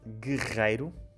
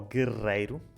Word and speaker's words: guerreiro: A palavra rei é a primeira letra, rei ou rei, guerreiro ou guerreiro.